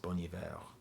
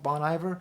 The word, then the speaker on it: Bon Iver: Professor I know that his name should be pronounced boniveo I am well aware the problem is I don't think he calls himself that I think he calls himself Bon Iver so I don't know